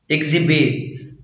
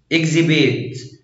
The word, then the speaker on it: exhibit: لا ينطق إذا جاء قبله تركيب إي إكس exhaust exhaust exhibit exhibit exhibition exhibition.